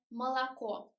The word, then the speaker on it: молоко: The accent goes on the last o here. That means that we should pronounce it like молоко.